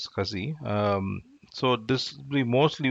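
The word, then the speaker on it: SCSI: interface another is a we call it as a scuzzy uh we have to pronounce it as kazi um so this we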